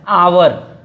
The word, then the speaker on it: hour: तो जो HOUR लिखा हुआ है, तो जो H होता है ये साइलेंट हो जाता है, तो इसको पढ़ा जाता है आवर।